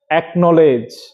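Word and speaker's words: acknowledge: এগুলির আগে ভাওয়েল থাকলে কে উচ্চারিত হবে যেমন একনলেজ এ সি কে এন ও ডবলিউ এল ডিজি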